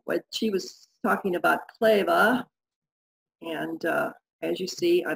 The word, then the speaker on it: Kleve: And if you noticed, I said it with Kleve, and as most Americans, we say cleave, but, and this is not 100%, but for most German words that end in an E, you say it like an A.